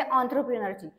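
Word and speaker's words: entrepreneur: ही correct spelling आहे ऑथरप्रेनरची पण ही start इ वरन होत आहे पण याच प्रोनन्सिएशन काय आहे याच प्रोनन्सिएशन आहे ऑंथरप्रेनर okay ऑंथरप्रेनर एनटी आर पी आर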